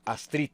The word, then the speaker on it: Astrid: primero a a Astrid Cómo debo pronunciar tu nombre Astrid porque así me dice mi mamá Así que Astrid Astrid